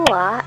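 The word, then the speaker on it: は: sebelum partikel W Nah kenapa ha di sini kan terlihatnya Ha hiragana ya tapi kenapa dibacanya wa ini karena wa di sini berpelan sebagai partikel karena itu ha dibacanya a khusus untuk partikel ini aja ya lalu Des itu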